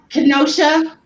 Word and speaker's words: Kenosha: Is it Kenosha? Kenosha. Uh-huh. So Like the city of Wisconsin. That's what I was thinking. And it's Ken. Short E. Kenosha.